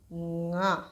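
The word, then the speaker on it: ང: So N and G combination is nga. You need to put your tongue backwards, and when you pronounce ka, you have to say nga. You have to pronounce it with your nose, so you'll get nga.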